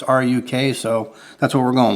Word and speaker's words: RUK: pronounce it some people brown's a truck i pronounced a truck it's ruk so that's what we're going with alright this